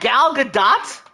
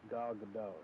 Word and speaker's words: Gal Gadot: Gal Gadot. Huh? Gal Gadot. There's a whole T in her name. You know that, right? It's silent from how it's always pronounced.